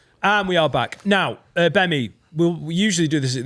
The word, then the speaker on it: Gbemi: My Instagram, my first name, Gbemi, Gbemi, silent G in Nigerian, I apologize. Gbemi comedy. Surely That's it. silent G sounds cool though. Like you can be a silent G. Yeah, I'm a silent G. Do you know what? It's kind of not silent. How would you say it properly? It's like Gbemi.